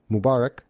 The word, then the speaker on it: Mubarak: Can you break down the meaning and pronunciation one more time? Of course. Aid Eid like feed means festival or celebration. Mubarak mubarak stress on bach means blessed.